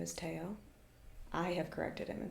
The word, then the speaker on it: Teo: I've been like, yeah, well, that's not how my name is pronounced. I would Yeah. prefer it if you called me, Teo. Teo.